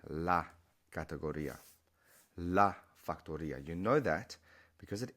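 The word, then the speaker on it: factoría: But then factory becomes factoria. And we know that because you have the little accent on the I. So it's not factoria, victoria, gloria. It's factoria.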